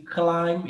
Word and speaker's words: climb: I am going to climb. Esse B aqui é mudo, a gente não lê.